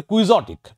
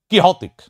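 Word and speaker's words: quixotic: Next আমরা উচ্চারণ করি কুইজটিক, আসলে কিহতিক।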